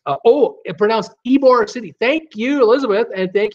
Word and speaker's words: Ybor City: Pronounced Ybor City. Thank you, Elizabeth, and thank you, Tommy. I'm looking at Ybor going, what? It's instead of Ybor, it's Ybor City.